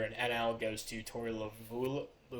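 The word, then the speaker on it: Lovullo: NL goes to Tori lavulo lavello that's how you say it young and Shane McClanahan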